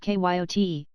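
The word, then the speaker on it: cayote: this ladder was the regular kayode pronounced kyot of the farther deserts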